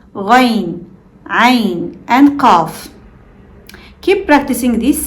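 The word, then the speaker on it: قاف: This one might remind you of the K sound in English, but it's much deeper in your throat. It's made by pressing the back of your tongue against the soft part of the roof of your mouth.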